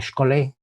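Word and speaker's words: σχολή: el sentido amplio que podemos pronunciar esta palabra como scholey dicho en griego como es el lugar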